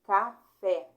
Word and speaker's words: café: Café. Aqui, ó. A última é a mais forte.